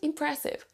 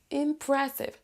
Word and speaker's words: impressive: vous on a ensuite impressive impressive là ici on a l'accent tonique donc là on va appuyer on va prononcer plus fort la syllabe la syllabe numéro 2 impressive impressive donc là